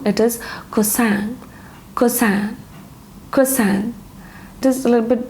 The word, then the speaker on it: croissant: Usually people have it in the morning, and this is pronounced as croissant. Actually, it's wrong. It is croissant.